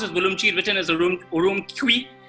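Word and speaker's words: Ürümqi: places called turfan or turpan uh uh it's pronounced as vulum cheat written as a urum kui uh and then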